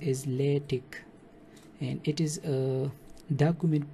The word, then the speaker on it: LaTeX: So it is actually pronounced as LaTeX, and it is a document preparation system to produce some professional looking documents.